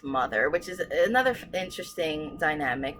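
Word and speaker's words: MU-TH-UR: analog anagram what's that word um um it's pronounced mother which is another interesting dynamic where the ship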